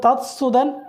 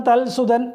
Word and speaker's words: തത്സുതൻ: എന്നുള്ള തൽസുതൻ അയാളുടെ പുത്രൻ അത് തത്സുതൻ എന്നാണ് ശരിക്കുള്ള ഉച്ചാരണം പക്ഷേ മിക്കവരും തൽസുതൻ എന്ന് പറഞ്ഞു പോകാറുണ്ട് അതും ഈ ഭാഷയുടെ നിയമത്തിന് ഉചിതമായ ഒന്നല്ല അത് എവിടെയെല്ലാം ത ഉണ്ടെങ്കിൽ